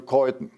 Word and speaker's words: Keuthen: I was born, my name is Keuthen. It's a typical German name, I think. The H is not spoken.